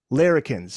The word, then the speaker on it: larrikins: And you also said that he was the last of the great larrikins.